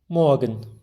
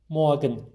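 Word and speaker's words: morgen: sizin için Bis moen r harfini çok bastırmıyor daha önceki videomda da söylemiştim Almancada çoğu zaman r harfini bizim Remzi isminde olduğu gibi r'leri çok Bastırmam çok söylemezler telaffuz etmezler onu biraz yutuyoruz böyle çok az kısaca moen diyoruz sevgili öğrenciler şimdi İnel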